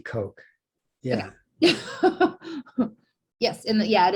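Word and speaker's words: Koch: want to pronounce it coach yeah well it looks like coach but it it's german so in german it would be coke yeah yes and yeah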